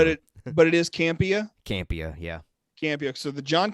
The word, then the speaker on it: Campea: Campea, yeah.